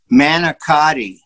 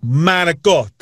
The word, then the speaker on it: manicotti: what it is uh this is the way most people call it they say manicotti can i take it can i take a crack at it yeah babe come on manikot that's it nice when you're in